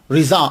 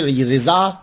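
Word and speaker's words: رضا: रोते-रोते जब सो गए तो आपके जद्दे अमजद मौलाना शाह रिजा अली खान ये देखिए रिजा और रजा ये दोनों पढ़े जाते हैं। मैं दोनों को प्रोनाउंस करता हूं।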